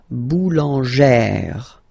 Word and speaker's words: boulangère: Remember, when you've got this e plus this accent grave, you pronounce it like eh, really open eh sound. Okay, so boulanger, boulanger, and then feminine form, boulangère, boulangère.